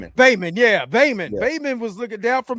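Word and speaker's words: Baelon: Is uh No, it's uh I forgot how you pronounce it, but he was looking down from heaven. Bam. Bamon. Bayon. Yeah, Bayon.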